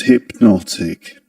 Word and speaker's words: hypnotic: The stressed syllable in the word hypnotic is the second syllable.